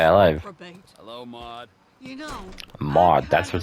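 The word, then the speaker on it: Maude: You know, Mod, that's what it's pronounced.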